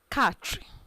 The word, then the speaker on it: quatre: Quatre. Don't forget, it is not qua, it's ka. You realize the Q and U as K.